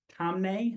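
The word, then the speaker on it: Taamneh: I think it was 2 terms ago, Twitter versus Tomnay, I believe it's pronounced, where plaintiffs tried to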